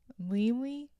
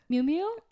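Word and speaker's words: Miu Miu: Mimi. Oh, Mew Mew. I totally said it wrong.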